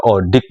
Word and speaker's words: ODIK: ya gini kan, karena tulisannya Odi, Odi pakai K. Kalau ejaan Madura orang-orang membaca Odi, Odi itu dalam bahasa Madura kan berarti hidup. Yang dimaksud di sini ya hidup, tapi maksudnya Odik itu obrolan pendidikan, ya pendidik dan tenaga